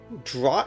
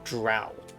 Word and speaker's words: draught: My brothers, who have not once tasted the bitter draught of defeat, I've never known that this is draught or drow. I believe the T is silent.